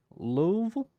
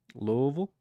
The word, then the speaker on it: Louisville: Louisville? Louisville?